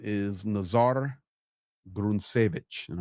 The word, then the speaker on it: Hryntsevich: his name is Nazar gruneich and I know it's an H but it's pronounced with a G call sign ginka 21